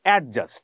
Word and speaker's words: adjust: ডি এর পরে জি থাকলে বা যেই থাকলে ডি এর উচ্চারণ হবে না। আচ্ছা ধরা যাক। এডজাস্ট আমরা ছোটবেলা বলতাম এডজাস্ট হবে।